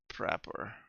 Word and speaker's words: Prapor: With all the good old you collect them to give the quest giver good old Uncle Prapor, and that's pronounced how Prapor, which is nice.